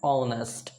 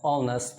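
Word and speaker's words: honest: का क्या होता है ऑनेस्ट ये एच से शुरू होता है इसका स्पेलिंग लेकिन जब इसका प्रोनंसिएशन करते हैं तो ये अ से शुरू होता है इसका साउंड अ आता है ऑनेस्ट अ आता है तो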